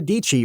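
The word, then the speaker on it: Dietschy: Sarah Dici rhymes with Peachy.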